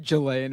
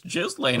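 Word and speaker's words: Ghislaine: No, it is Jiz Lane, isn't it? No, it's just straight up Jizlane. Jizlin. Something like that.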